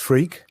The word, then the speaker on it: Freke: I correct that no my name really is pronounced freak yeah uh philosopher I